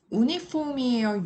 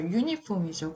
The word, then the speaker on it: uniform: UNIFORM 요 단어는 우리가 볼게요. 우니폼이에요? 유니폼이에요? 그쵸, 유니폼이죠.